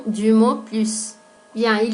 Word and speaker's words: plus: Se pronuncia la S cuando hacemos una comparación con un nombre sustantivo. Par exemple, je mange plus de chocolat que mon mari.